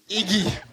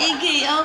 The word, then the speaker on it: IGY: How to spell it? Iggy. IGY. Is a Pusu word for human. I said Iggy.